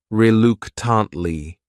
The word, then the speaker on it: reluctantly: That third syllable also has that schwa. Reluctantly.